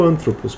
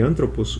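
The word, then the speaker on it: ἄνθρωπος: No caso de anthropos, o acento é proparoxítono. Ele fica na antepenúltima sílaba. Então, o acento vai sempre tentar recuar o máximo possível. No caso de anthropos, ele não pode recuar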